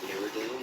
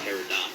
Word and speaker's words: peridot: I like opals, peridot. Is it peridot? I don't pronounce it. It's not peridot. Peridot.